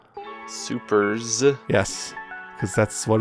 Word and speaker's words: Supers: We'll be talking about Sailor Moon Supers. Supers. Yes, because that's what it's called. Super S. No, just Supers. It's, if you say Super S, you're saying it wrong.